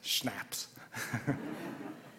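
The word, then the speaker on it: CHNOPS: in all life forms these six elements are carbon hydrogen nitrogen oxygen phosphorus and sulfur and I'm told that that is pronounced snaps so the biology story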